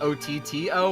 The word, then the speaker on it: Otto: Is that Otto like O-T-T-O or Otto as in like A-H-T-O? Otto. It's A-T-O, but it's pronounced Otto because the game was made in Japan.